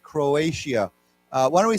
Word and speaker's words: Croatia: word is pronounced with not with a t but with a sh sound right Croatia uh why don't we say together Croatia Croatia yeah um to